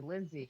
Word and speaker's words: Lynzae: But yeah, I go by because my name's actually Lindsay, but it's spelled Lynzae.